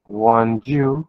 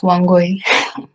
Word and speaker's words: Wangoi: And Wanju, good morning. I hope I pronounced that correctly. No, you did not. It's Wangoi.